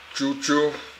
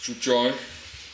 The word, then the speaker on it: Jujuy: Jujuy, Gobernador, Horacio Guzman International Airport. That's where we are flying. Jujuy, I don't know how you pronounce it. It's not Juju, it's Jujuy.